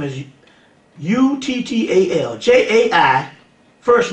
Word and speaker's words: Uttal: You need to get a guy by the name of J-A-I, that's his first name, Jai Uttal. The last name is U-T-T-A-L.